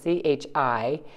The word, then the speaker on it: chi: which looks also like an x but it's pronounced differently of course it's chi not c c h i is the way the letter sort of looks